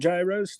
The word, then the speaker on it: gyros: are the sandwiches called gyros too? Because it's spelled the same exact Yes, it way. is. However, Aren't they we're like not Greek. gyros? They are gyros. Euros, yes, because Gyros. G is pronounced like a Y. A friend of in mine Greek. is Greek, and his dad would club me over the head for mispronouncing it. Exactly.